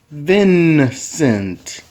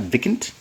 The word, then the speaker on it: Vincent: I just want to say Vincent. Write it down if that's what you think. Vis? Who's Vis? Come on. What are you writing? You're doing it again. Vincent. Come on. Vincent. Not Vicant.